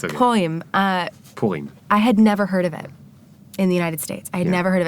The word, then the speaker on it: Purim: I mean, events, so for example, I'm going to mispronounce it, but Purim? But I never can say It's okay. Purim.